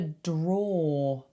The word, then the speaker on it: drawer: Inside a drawer. Drawer. Now I know it's spelt drawer, but we don't say that. We make it rhyme with door.